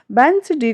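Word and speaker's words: Wednesday: Pronounce है वो किसका, यहाँ पर डी का कहीं कोई प्रोनाउंसिएशन नहीं किया गया है, क्योंकि इन सारी स्पेलिंग्स में ही डी हमारी साइलेंट है। और अपवाद स्वरूप में इसमें हमने वेंसडे को यूज किया गया है। वेंसडे का जो प्रोनाउंसिएशन है वो किस तरह से आता है, वेंसडे, एंड हैंडसम को भी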